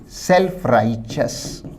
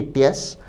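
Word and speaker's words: self-righteous: इसके लिए एक बहुत अच्छा पर्यायवाची अगर विद्यार्थी चाहें तो नोट करें, सेल्फ राइचस। शब्द के प्रोनंसिएशन या उच्चारण पर भी ध्यान दें। सेल्फ राइचस ना कि टियस।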